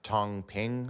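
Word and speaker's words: 躺平: There's this notion in China of, I think it's pronounced Tong Ping, lying flat, where due to pressures of Yeah, lying flat is pretty much like people giving up.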